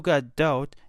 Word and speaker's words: Gadot: Even though Gadot, and yes, that is actually how you pronounce her last name, which I learned just